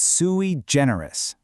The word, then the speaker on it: sui generis: And its partner word is sui generis. Let's get the pronunciation right.